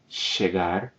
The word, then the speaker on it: chegar: We're going to say chegar, aprender, and assistir, stressing the final syllable.